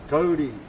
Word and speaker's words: kauri: Kauri.